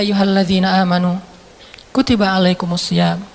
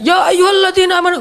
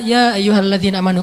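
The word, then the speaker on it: يا أيها الذين آمنوا: satu lembar loh ya ayuhadina amanutibaikumam makanya Bacanya jangan ya ayyuhalladzina amanu beda itu beda intonasi beda pesan tapi kalau kita baca ya ayyuhalladzina amanu kan kata nabi bacalah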